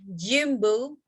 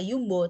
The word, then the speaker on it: jumbo: Ini adalah jumbo. Enggak yumbo, tapi gini bacanya jadi jumbo.